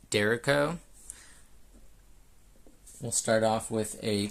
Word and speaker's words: Derecho: I've heard it pronounced both ways, but I'm just going to call it the Derecho.